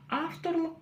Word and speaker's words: авторлық: Как прочитать окончание лық? Очень и очень просто. Буква «ы», в отличие от русской ее версии, в казахском языке читается очень коротко. И это, конечно же, тоже твердая буква. Буква «к» читается очень просто. Нужно просто откашляться через обычную букву «к».